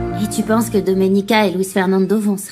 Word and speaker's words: Domenica: Tu as du mal à prononcer mon prénom. C'est Doménica.